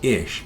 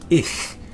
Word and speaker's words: ich: So people just say ich bin. But it's not ish, it's ich.